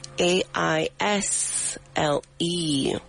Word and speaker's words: aisle: We don't pronounce the s in it.